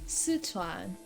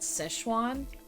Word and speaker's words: Sichuan: z e from because it's it's sichuan not set on not not or as they pronounce that szechuan it is made by